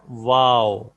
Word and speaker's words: واو: واو اچھا, بہت سے لوگ وا پڑھتے ہیں, وا غلط ہوتا ہے. وا کوئی لیٹر نہیں ہے, اس لیٹر کی آواز ہے, اس حرف کی آواز وا نہیں ہے. اس کی آواز پروننسیشن یا تلفظ ہے واو.